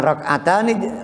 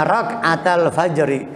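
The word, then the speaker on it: ركعتا الفجر: Bukan rak'atani, rak'ata, dibacanya rak'atal fajri.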